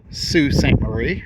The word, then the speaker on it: Sault Ste. Marie: I am in Sue St. Marie, I believe, is the proper pronunciation.